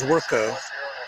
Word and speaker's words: Zwerko: my last name is zwerko and when they see it written down they tend to over pronounce it so priyan priyanshu kumar